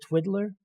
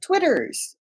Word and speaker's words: Twitters: Is it Twiddler? Almost. It's called Twitters.